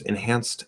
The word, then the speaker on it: enhanced: enunciated enhanced senses uh you drop the t which is spelled as a d but it's a d sound enhanced you just drop it enhance senses enhance senses um enhance senses enhance